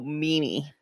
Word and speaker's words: Mimi: Yeah, and you'd spell that M-I. Yes. Yeah. It's really weird that it's an I, but it says E.